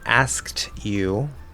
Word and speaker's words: asked you: Now for asked you, right, so the E is silent.